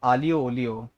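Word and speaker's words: aglio olio: तो please restaurant आके आलियो ओलियो ट्राई मत करना गलती से भी. जो उसकी स्पेलिंग होती है एग्लियो पोग्लियो को स्पेलिंग होती है उसकी, लेकिन the pronounce it एज आलियो ओलियो.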